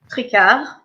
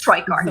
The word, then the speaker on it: Tricart: Her last name is French, so I can't pronounce it, but it's you can pronounce it. Tricart, but you can say it's Tricart.